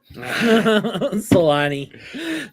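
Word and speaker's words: Selänne: how to say it oh you cheated yeah Solani there you go Solani yep that's it yes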